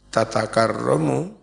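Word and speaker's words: تتكرم: Faqaulun nazim, ucapan nazim tatakarramu, cara membacanya, bita aini, dengan dua tak, maftuhataini, yang dua-duanya di fathah.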